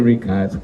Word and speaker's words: Ricard: Matthew Ricard. Matthew is not spelled like the English, Matthew in French is M-A-T-H-I-E-U, Matthew. Ricard is Richard, like in English, but this is French. Richard, without H.